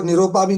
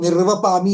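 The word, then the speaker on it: निर्वपामि: मतलब बाय bye Tata वो निरोपामी नहीं वो निर्वपामी है तो अच्छी तरीके से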